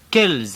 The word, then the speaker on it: quelle: It's spelled Q-U-E-L in the masculine, and the feminine ends in double L-E. But they're pronounced exactly the same. Listen to these examples. Un homme, quel homme? Une femme, quelle femme?